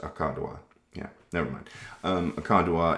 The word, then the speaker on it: Aka Dua: Lapis akka dua energy is, I hate it when people say it like that. It's just akka dua.